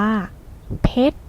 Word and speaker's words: เพชร: นั้น เอง ค่ะ คำ นี้ เรา อ่าน ว่า เพชร ซึ่ง หมาย ถึง ชื่อ แก้ว ที่ แข็ง ที่